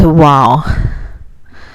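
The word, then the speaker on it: و: We can go to our next letter, which is wow. Wow, like wow. In South Asia, don't really distinguish W with V. So it has the wa sound, or it can be wa sound.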